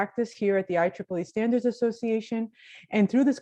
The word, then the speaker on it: IEEE: who are not familiar with the organization the ieee is actually the way we pronounce it and it's the institute electronic and